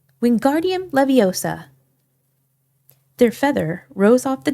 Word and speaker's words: Wingardium Leviosa: Winguardium leviosa, he shouted, waving his long arms like a windmill. You're saying it wrong. Harry heard Hermione snap. It's wingardium leviosa. Make the gar nice and long.